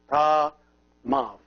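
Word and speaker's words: ⲧⲁⲙⲁⲩ: See this letter, which is the epsilon, is here pronounced like a V because it is preceded by an alpha. So if it is preceded by an alpha, it is pronounced like a V. So this one becomes Ta Mav.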